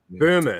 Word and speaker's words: Böhme: So German idealism has a weird Rosicrucian link, and Hegel read frickin' Jakob Boehme and all of that kind of stuff, or Jakob, or however you pronounce it. But Böhme.